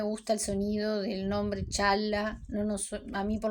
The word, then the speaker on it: Çağla: En el caso de ella, además de la "'g' con cuernito", tenemos la "'c' cedilla", que se pronuncia "ch", así que es "Chaa-la", así que es "Doan y Chaala".